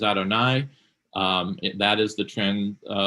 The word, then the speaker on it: Adonai: the Torah Elohim and yud V which we would pronounce as Adonai um that is the